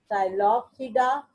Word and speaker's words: Psilopsida: These pteridophytes, they are further divided into Psilopsida, Lycopsida, this is Y, Lycopsida, Psilopsida, Lycopsida, Spinopsida, Pteropsida. In all cases, you can observe, you can see that the P is silent.